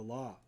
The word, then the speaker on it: AL: the book of the law. Liber 220, often abbreviated in occult manuscripts as Al pronounced L.